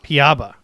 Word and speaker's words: Piaba: excited to introduce Scott from is it project piaba is that how you pronounce it we've been pronouncing it all different ways paba paba excellent that's it y so thanks so much